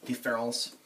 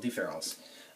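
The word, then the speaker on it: différance: the word difference and deference to us they look like they're pronounced differently but in in the in the French language they are pronounced the same but he puts an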